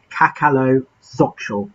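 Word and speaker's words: cacaloxochitl: It was cacalo xochol. That's cacalo xochol. That's how you say it. Cacalo meaning cacao, xochol meaning flower.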